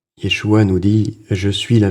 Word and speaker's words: Yeshua: le monde le connaît il se dit en hébreu moderne Yeshua qui vient de la racine Yosa bon alors vous m'excuserez